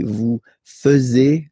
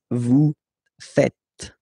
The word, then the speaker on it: faites: And it's quite funny because many French people tend to make the mistake and tend to say vous faisiez, okay? But then no. It's vous faites. Vous faites, okay? So remember, final S here is not pronounced, and then this E is not pronounced either.